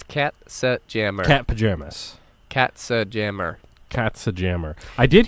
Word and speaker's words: Katzenjammer: your word is Katzenjammer katpa jim's Katzenjammer so it's cat set jammer epidermis Katzenjammer Katzenjammer I